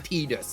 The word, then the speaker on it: Tidus: get me so I'm calling him Titus I'm not calling him tus you hear me it's Tidus bro that's how his name said no no officially officially from Square Enix officially it's tus but it's spelled Titus my name's not midus